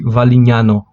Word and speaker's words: Valignano: Escreve-se valignano, mas pronuncia-se valinhao. Valinano. Valinano.